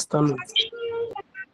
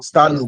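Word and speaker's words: Stannum: I think that the other name for it was, I think, Stanley. Come again. What I remember is Stanley. I don't know if I'm Stanum.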